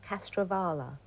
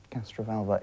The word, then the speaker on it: Castrovalva: What was the Master's TARDIS disguised as in Castrovala? Castrovalva.